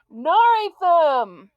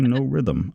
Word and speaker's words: Norythum: Norithum! That's what he does. I've heard him do that a couple times, and I'm like, hey, buddy, it's actually no rhythm, but it's okay.